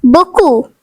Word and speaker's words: beaucoup: The next French word is beaucoup, which means a lot. The silent letter is P.